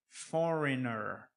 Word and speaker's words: foreigner: Nós falamos foreigner. Nós acrescentamos esse ER no final. Mas a gente continua sem pronunciar o G.